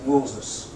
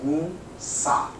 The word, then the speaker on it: Musa: We don't pronounce him Moses. We pronounce him Musa.